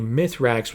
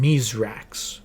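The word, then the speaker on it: Misraaks: While his name might be Myithrax when we're introduced to him, we learn that that was a mispronunciation of his real name, Miserrax.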